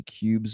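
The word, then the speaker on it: Qubes: the most secure alternative is going to be cubes OS and that's spelled q ubees o cubes o and that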